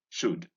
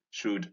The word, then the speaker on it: should: Here is hood, stood, could, should, would. Notice that the sound occurs in O-U-L in these three words, could, should, and would. And that the L again in these words is silent.